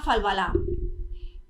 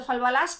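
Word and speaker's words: Falbalas: 40 que se llama Falbalá, o Falbalás, escrito Falbalás, pero en francés la S final pues no se pronuncia.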